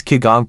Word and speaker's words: qigong: through observation and study Chinese kigong pronounced Qigong Masters discovered that each